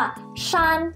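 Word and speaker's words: 山: คะ อักษร จีน เขียน แบบ นี้ อ่าน ว่า ชา แปล ว่า ภู เขา นั่น เอง หรือ คำ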